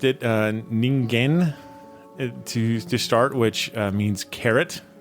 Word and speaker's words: Ningen: I think Elisa can help us out with the proper pronunciation of this name. So it is Japanese, and it's Ningen.